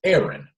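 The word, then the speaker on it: Erin: So his first name is Aaron, but it's spelled in the Irish, I believe, the Irish sense, Irish sense, E-R-I-N, okay?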